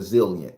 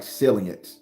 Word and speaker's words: zillian: the textbook definition of zillian for you here we go zilliant it's spelled like zilliant but it's zillian this s is a z zillian is a noun